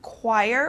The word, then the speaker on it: choir: group of singers so this ch turns into like a k sound choir or a q sound uh for example the